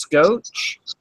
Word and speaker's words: Scosche: And I found a different company called, I believe it's pronounced Scotch. It's SCOCHE.